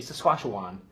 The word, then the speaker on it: Saskatchewan: So in the best term, it is Sacagawea with a crossbeat of a Wan, like a Obi-Wan Kenobi, so I say Saskatchewan.